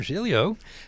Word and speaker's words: Giglio: the cube uh our uh new friend Rob jilo who is the chief customer officer at canva